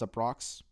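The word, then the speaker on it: Uproxx: I think it's up it's pronounced aprox calm it spelled you pee Roxx calm and this article is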